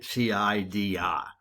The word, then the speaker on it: CIDR: we get the site cidr as far as i know you're supposed to pronounce it like apple cider presume there's an e